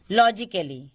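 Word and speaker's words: logically: लॉ, जी के बाद आई है, जी को हम लोग ग पढ़ते हैं, जी से ग हम लोग पढ़े हैं, लेकिन जी के बाद आई वाई और ई आए तो हम इसको ज पढ़ते हैं, बाकी जगहों पे हम इसे ग पढ़ते हैं।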